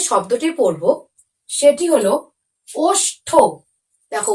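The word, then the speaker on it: ওষ্ঠ: উচ্চারণ হবে তখন কিন্তু ঠ এর উচ্চারণটা একটু শেষের দিকে তো হবেই কিন্তু একটু কম ভাবে হবে অর্থাৎ একটু সাইলেন্ট ভাবে হবে তাই আরো একবার তোমরা আমার সাথে সাথে উচ্চারণটি করো অষ্ঠ দেখো বেশি করে কিন্তু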